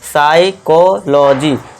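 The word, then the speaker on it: psychology: एस के बाद देखिए दोस्तों यदि पी के बाद एस हो। पी के बाद क्या है दोस्तों? एस आ गया। तो इसे क्या पढ़ेंगे हम? देखिए पी यहां साइलेंट हो जाएगा तो यहां हम एस से शुरू करेंगे। ठीक है, दोस्तों? पी को भूल जाइए। अब एस से शुरू करो। तो इसे क्या पढ़ेंगे? साइकोलॉजी। साइकोलॉजी लॉजी नहीं लॉजी साइकोलॉजी इस तरह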